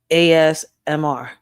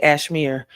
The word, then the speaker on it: ASMR: Let me say it right this time. ASMR. ASMR. I was about to say Ashmere, but no Ray, stop reading it. You don't read it. It's ASMR. So, make sure y'all go check her out.